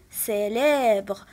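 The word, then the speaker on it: célèbre: الكلمة الموالية عندنا سي حداها لا لتر اي، وكيف ما قلت لكم سي إلا كانت حداها اي كنطقها اس، إذن سيليبر، وهاد الكلمة غنوضعها في لا كولون دو غوش.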